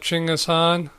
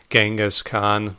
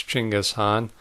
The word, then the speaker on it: Chinggis Khan: I guess I had heard of Chinggis Khan, which is how you properly pronounce it, by the way. The French archaeologist who gave us Genghis Khan was actually mispronouncing it, so it's Chinggis Khan, but whatever.